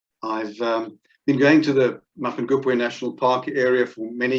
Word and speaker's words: Mapungubwe: Mapangupwe, that's the pronunciation, and it's Chivenda, or derived from the Chivenda, meaning of the place or the hill of the jackal.